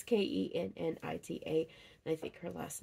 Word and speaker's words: Kennita: I may say her name wrong, but her first name is, it's either Kanetta or Kanita, or it could be something else entirely. It's Kennita, and I think her last name is right.